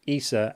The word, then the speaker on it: Issa: Uh, Issa is pronounced Issa and is short for Isabel.